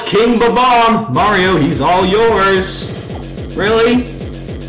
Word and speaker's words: Bob-omb: For the longest time, I thought they were pronounced Bob-omb. I just accentuated the Bob and Bob-omb, Bob-omb. I just said that. Very embarrassing, to say the least. Only recently I found they were called Ba-Bomb.